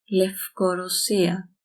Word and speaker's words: Λευκορωσία: This is pronounced as because this does not make the vocal chord vibrate or else it would be a v. It doesn't. So it's a f. Λευκορωσία.